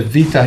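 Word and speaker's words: Bita: So because the vita here, the b sound of the vita is followed by a vowel, the b becomes a v, and it's pronounced b in every other case. All other, it's b as in boy. V as in Victor here.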